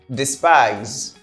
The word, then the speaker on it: despise: Despise. Despise. Here we have a z sound at the end. We say despise.